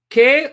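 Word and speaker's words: καί: Ke or kai, because they pronounce it kai, the conjunction, Theus or Theos en Hologos.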